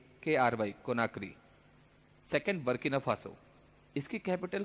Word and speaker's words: Conakry: तो गिनी की कैपिटल है कोनार्की, CONAKRY, कोनाक्री। Second Burkina Faso, इसकी कैपिटल की स्पेलिंग और प्रोनाउंसिएशन बहुत गजब का है, ठीक है।